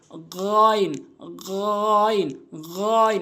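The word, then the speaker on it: غين: হা এরপরে হচ্ছে গাইন হলকের শেষ থেকে আমরা উচ্চারণ করবো এভাবে গাইন গাইন গাইন এভাবে আমরা উচ্চারণ করব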